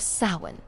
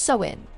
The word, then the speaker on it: Samhain: This is the story of Samhain, the night that haunts the heart of Halloween.